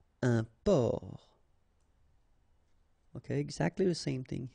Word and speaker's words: port: Un port, un port. Okay, exactly the same thing here. Only the last letter is different. You don't pronounce it, and then both of them are masculine.